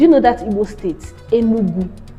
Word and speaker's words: Enugu: Like, do you know that Igbo state, Enugu? That's the original pronunciation. The white man cannot pronounce it. He now says Enugu. But if you want to show that you are Igbo, say Enugu.